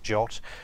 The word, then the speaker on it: JWT: these tokens are in what's called a jot format JWT pronounced jot where the J stands